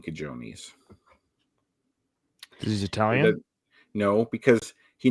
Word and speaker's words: cojones: If you saw that written down, you would mispronounce it if you didn't know the J sounds like an H.